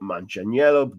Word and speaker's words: Manganiello: I've been practicing properly pronouncing his name. Actor and director Joe Manganiello joined members of Congress as keynote speaker at the annual Congregational Armenian Genocide Commemoration.